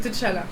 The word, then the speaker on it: T'Challa: C'est pour ça T'as c'est vu, pas ça veut dire- c'est pas T'Challa non plus, c'est T'Challa.